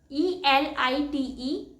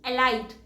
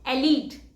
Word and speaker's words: elite: E L I T E. Elite. And the correct pronunciation is elite.